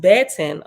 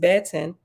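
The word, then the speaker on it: בֶּטֶן: page footnote okay the Hebrew word B10 b-e-t-e-n pronounced baton okay Bet Angela okay the Hebrew word Betten pronounced Betten is a feminine noun that can mean any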